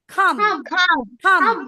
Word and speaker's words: calm: be hum একই হবে এটা কি calm হবে calm it should be calm L silent calm মানে calm and